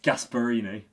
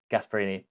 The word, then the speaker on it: Gasperini: And obviously, what how do you pronounce his name? Gasparini. Gasperini.